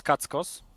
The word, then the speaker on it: Kachos: I mean, the Polish pronunciation for that is Kackos, with the C, that you can actually hear it very well.